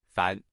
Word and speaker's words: 凡: In today's video, we'll teach you the Chinese character for ordinary pronunciation. Fan.